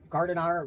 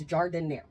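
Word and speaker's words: giardiniera: It's Jardiniere, by the way. People call it Jardiniere or Gardiner, whatever they say. It's Jardiniere. That's how you say it.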